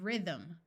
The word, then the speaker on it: rhythm: silent John and Durham if a word starts with RH the H will be silent like in Rhino and Rhythm note that why in